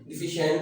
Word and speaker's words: deficient: अभी CIE जब भी लगता है तो शीन की ये प्रोनाउंसिएशन यानी कि SH की प्रोनाउंसिएशन देता है डेफिशिएंट।